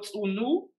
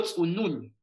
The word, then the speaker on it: tsunun: En lugar de leerlo tsunu, hay que leerlo tsunun, como si estuviera escrito dos veces el signo de la sílaba nu.